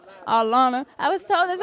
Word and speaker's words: Atlanta: Atlanta you know did I say it right Atlanta I was told that's how you say it is that true it's Atlanta Atlanta say with me Atlanta Atlanta you can't do